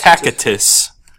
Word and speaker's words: Tacitus: So, this is on Tacitus's book, or Tacitus. Tacitus, because Romans didn't have a soft C like we do.